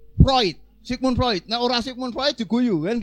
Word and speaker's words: Freud: tulisan Sigmund Freud Gan tulisannya Sigmund Freud itu bacanya harus Sigmund proid Sigmund proyek Naurah Sigmund